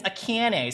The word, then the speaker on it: Akane: the room toward her it's pronounced like the ah in Amish no no no no her name is akane Right akene hi my name is akane so of course it's